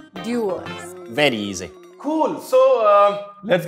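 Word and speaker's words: Dewar's: So it's Dewars. The easiest way to remember it is just Dew, like a dew droplet of rain. Dewars. Dewars.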